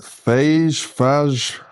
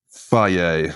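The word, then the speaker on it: Fage: grams of fruit on the scales and the phage, how do you say it? In fact, I think it even says on here how you actually, there we go. Faye, apparently, that's how you say it.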